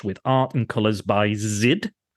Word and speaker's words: Zid: And Monster Mash, with art and colors by Zid. I believe that's how you say it, Z-I-D.